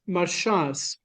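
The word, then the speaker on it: מרשעת: This word, sorry, Michael, this word is marshas.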